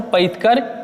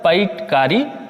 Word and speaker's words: पैतकर: चित्रकला जिसको बोलते हैं, वो कौन सा है, पैतकर या पैटकारी, या इसको कहीं कहीं पे लिखा मिलेगा पैतकर। ठीक है, बात बराबर है, तीनों का अलग अलग नाम उच्चारण है अलग अलग, लेकिन है सब एक ही चीज, पैतकर पेंटिंग।